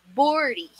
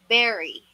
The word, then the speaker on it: bury: The correct pronunciation for this one is berry. Berry. Katunog siya nung kinakain nating blueberry, strawberry. That's it. It's not bori, it's berry.